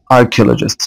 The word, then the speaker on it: archaeologist: archaeologist طبعا السي اتش هنا بتنطق ك.